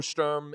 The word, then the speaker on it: Sturm: No, it's Sturm. We get to we can spell German. We can pronounce words however we want to.